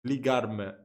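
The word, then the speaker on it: ligar-me: So the way he said it is not the correct way. It's more like colloquial than appropriate. Because it's totally different here. It's ligarme.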